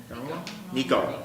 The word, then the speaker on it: Nico: Nico. Oh, it's Nico.